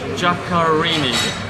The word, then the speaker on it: Giaccarini: Ophelia Giaccarini, painter. Yes. Is that how you pronounce it? Giaccarini, yes, but I call it Ophelia, So, yes.